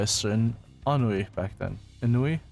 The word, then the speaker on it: ennui: Ennui? How do you pronounce this again? Ennui. Ennui? Okay. Ennui. Yeah, Ennui's right. And in hindsight, it was foolish of me to engage in such inane conversations.